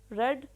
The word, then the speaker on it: read: Samreen had रेड, रीड की third form रेड होता है लेकिन स्पेलिंग यही होते हैं।